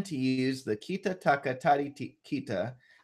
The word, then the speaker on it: tari: Is common to use the kita taka tari kita. So tari is spelled T-A-R-I, but I say tadi because it's easier when you're going fast for me.